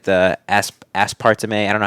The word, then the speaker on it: aspartame: the seed oils, the fake sugars like the aspartame. I don't know how to pronounce it, but is that aspartame? Is that how you pronounce it? Aspartame? Aspartame. Yeah.